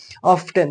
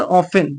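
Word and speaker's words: often: बहुत बार मैंने सुना है कि लोग कहते हैं कि मोर ऑफ्टन, तो मोर ऑफ्टन नहीं है, जो यहाँ टी है ना वो साइलेंट है, इसीलिए हम क्या कहेंगे, मोर ऑफन।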